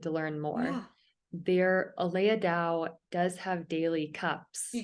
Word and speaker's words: Dao: saying it right yeah d-a-o i know and i call her day-o and i'm i'm saying it wrong i apologize to aleya